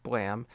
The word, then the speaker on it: BLAME!: So, Blam by Tsutomu Nihei, uh, or Blame, as I thought it was called, but it's actually pronounced Blam.